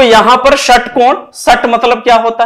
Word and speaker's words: षटकोण: मान लीजिए लिखते हैं षटकोण, लिखते हैं षटकोण, कुछ लोग इसको खटकोण भी पढ़ते हैं, पढ़ने की बाध्यता नहीं है, अपने अपने अनुरूप पढ़ा जा सकता है। स का भी उच्चारण होता है और ख का भी उच्चारण होता है।